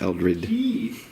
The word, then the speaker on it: Eldred: We were at Eldridge and Eldred. Eldridge. No G.